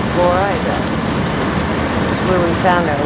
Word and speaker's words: Florida: Spelled like Florida, but pronounced Florida.